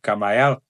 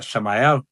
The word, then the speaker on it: Camael: na angelical do tritos Aonde a maioria trabalha com camael na verdade correto é Samael já que o c em grego se pronuncia com som de s nós temos também essa